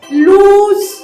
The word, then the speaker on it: lose: सुद्धा खूप वेगळा आहे जो पहिला शब्द आहे लूज तो ज्याच्यामध्ये एकच सिंगल ओ आहे तो लूज अशा पद्धतीने प्रोनाऊन्स केला जातो तर दुसरा जो काही शब्द